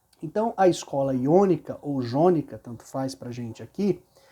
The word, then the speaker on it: jônica: Nós, na verdade, falamos jônica, tá, gente? Mas a pronúncia correta talvez fosse iônica. Por quê? Porque na língua grega não existe letra com som de J, de Já, G, Gi, Jó, Ju, não existe, tá?